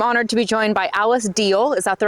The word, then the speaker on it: Alice Diehl: I'm honored to be joined by Alice Diehl. Is that the right pronunciation?